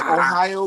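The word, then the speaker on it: おはよう: Kichiwa say Ohio. Gazimus. Say Ohio. Just like the state Ohio.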